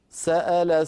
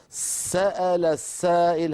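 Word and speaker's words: سأل: سال سائل بعذاب واقع انا اقول سال س انظروا س س سال س انطق السين ومباشره بعدها الفتحه سال والهمزه وبعدها الفتحه واللام بعدها الفتحه سال سال سائل ولا اضغط زياده على السين مثلا اقول سال السائل هذا لا يصح سال صار كانني نطقت سين ساكنه واتبعتها س مفتوحه المبالغه يعني امر لا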